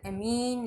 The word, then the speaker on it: ammine: NH3 और इसको अपन एमीन लिखते हैं। बड़ी ई की मात्रा आ जाएगी हिंदी में, छोटी ई की नहीं आएगी।